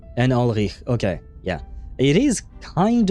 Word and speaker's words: Ulrich: Okay, and like Ulrich too, right? It's well, see, I mispronounced it there. It's not supposed to be a k sound. It's a h, right? And Ulrich.